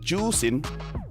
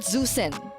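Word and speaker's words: Zhuxin: pronounce zusin no no it's pronounced as juin juen so it's not zusen I can speak mandin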